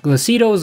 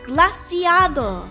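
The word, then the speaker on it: Glaseado: another one of the 10 sides of paudia glasito's grass first of all it's pronounced glaciado and second have you heard of the rumors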